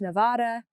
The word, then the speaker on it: Nevada: then it's wrong so it must be Nevada and so I've been practicing saying Nevada in my head so many times that now it's hard for me to say it correctly it's Nevada I know it's Nevada and I will probably